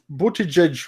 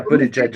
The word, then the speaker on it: Buttigieg: By the way, apparently his last name is pronounced Buttigieg or something like that. Yeah, apparently Styx mispronounces it on purpose for some strange reason. But yeah, Buttigieg, I believe is the way you If say you it.